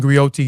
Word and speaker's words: griot: Griat and grioti is unique to West African. Uh a griat is a jolly profession encompass many roles. A griat pronounced grio a goi have been